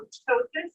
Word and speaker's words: ptosis: I'm looking for ptosis. This P is silent, signs for drooping.